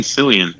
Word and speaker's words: Fillion: She's managing Nathan Fallon. Extremely. Or how do you say his last name? Nathan Fillion.